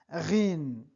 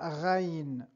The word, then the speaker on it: غ: Me llamo Dries y hoy vamos a aprender la letra Ghin, la letra Ghin, la letra Ghain o bien Ghin. Es equivalente a la R francesa Ghin, Ga, Ro, Ri.